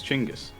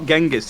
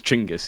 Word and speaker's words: Genghis: actual pronunciation is not genis it's chingis Khan not happen what what we got taught was wrong is not genas Khan he chingus no way the pronunciation of Mongolian is chingis he's chingus KH go